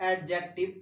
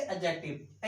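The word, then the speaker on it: adjective: और थर्ड में क्या आपका, एडजेक्टिव, नॉट एडजेक्टिव, एडजेक्टिव, यहां डी साइलेंट रहता है।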